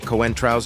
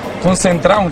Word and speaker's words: Coentrão: The best part is when they get Coentrão's name wrong, the Portuguese player who played with the star at Real Madrid. Concentrão, quem é esse jogador? Concentrão. Coentrão. Muy bien.